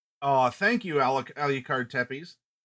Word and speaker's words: Tepes: Oh, thank you, Alucard Tepes. Tepesh, I believe, is the proper pronunciation.